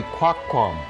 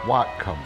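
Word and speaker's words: Whatcom: And so he paddled in with them and his pronunciation would be Quaquam, not Watcom.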